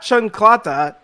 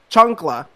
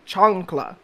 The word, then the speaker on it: chancla: Not chancleta, chancla. I'm not saying chancleta, I'm saying chancla.